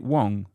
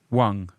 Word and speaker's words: Huang: ball oh your surname is it Wong is that how you pronounce it one Wang yeah one okay let me